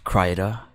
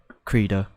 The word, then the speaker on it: Krita: lots of brush and i found out that karita is like pronounced in different ways there's craida krita but i always uh i call it kurita there's a bunch of